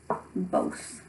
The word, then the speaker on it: both: This has a long O sound even though there's no E at the end.